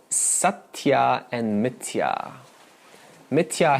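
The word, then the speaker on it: मिथ्या: called satya and mithya mithya has a long a at the end satyam what is satyam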